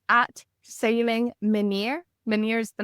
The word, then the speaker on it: Menyr: it's at Sailing Menir. Menir is the name of the boat. It's spelled Okay.